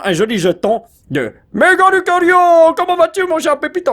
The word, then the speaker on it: Lucario: Méga Lucario, j'allais dire Culario. J'allais mal prononcer son nom.